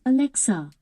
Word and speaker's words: Alexa: It starts with A and ends with an A and is 3 syllables long. It's Alexa.